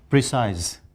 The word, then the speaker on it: precise: There are some words which are again mispronounced, like precise should be precise, increase should be Increase. increase, cease should be cease. Cease.